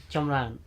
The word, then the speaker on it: Chamrouen: Chamrouen.